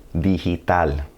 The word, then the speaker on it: digital: G before an I or an E is going to sound like an English H. Digital.